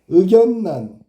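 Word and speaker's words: 의견란: 발음 반드시 외워두도록해. 의견난. 그죠? 임진난. 난이야. 난 난 요게 바뀐 거야. 요게 알았니? 어. 그다음에 생산냥 뒤에게 바뀐 거야.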